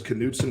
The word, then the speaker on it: Knutson: aunt's last name is Knutson and we pronounce the k see there we are